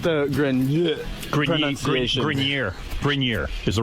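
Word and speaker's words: Grenier: Grinier is the right way to say it.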